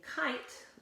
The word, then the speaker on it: kite: Pete II it says its name kit became kite draw my line over there kite I it